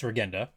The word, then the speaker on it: Regenda: And by the way, I've been pronouncing his name wrong. It's not Regenda, it's Regenda.